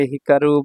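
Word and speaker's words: 光: ভার্বের মূল স্টিম এটা চাইনিজ উচ্চারণ হচ্ছে কৌ চাইনিজ উচ্চারণ হচ্ছে কৌ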